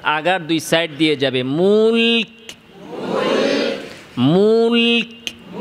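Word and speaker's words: الملك: দিয়ে যাবে মুলক মুলক এরপরে আসেন কাফ কাফ উচ্চারণের সময় প্রথমে আওয়াজ বন্ধ এরপরে বাতাস মুলকুল খেয়াল করে কাফে প্রথমে আওয়াজ বন্ধ এরপরে বাতাস জারি এবং কাফ উচ্চারণে বাতাসটা কাফের মাখরাজ থেকে বের হবে জিহবার গোড়া থেকে যেখানে কাফের মাখরাজ এরকম মুলক শিনের মাখরাজ থেকে না মুলক এরকম না মুলক এভাবে না মুলকুল মুলকারা মুলক মুলকটা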